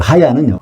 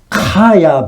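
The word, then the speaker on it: חיה: 여기 하와의 이름에서 그 하야는 원래 발음은 카야 비슷하게 해야 됩니다 카야 K 발음이 좀 들어가는 발음이에요 이런 히브리어나 헬라어의 언어를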